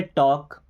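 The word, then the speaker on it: talk: जैसे एल, अगर लास्ट में एल के बाद के आ जाए या एम आ जाए तो एल साइलेंट हो जाएगा, जैसे टॉक है ना, या पाम, आपने पढ़ा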